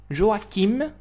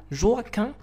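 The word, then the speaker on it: Joachim: كلها كامله هي جون جواكيم اولا جواكان اولا جواشان. يعني هاد السميه هذه تقدر تنطق بثلاثه ديال الطرق.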